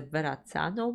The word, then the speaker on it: Verrazzano: I also want to say, Walt, you mentioned the message that the bridge, it's a Verrazzano bridge, that's how you say it, featured in that video, is the one that's very special to you.